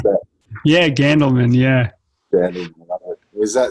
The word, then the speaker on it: Gandelman: How do you pronounce that? Yeah, Gandelman.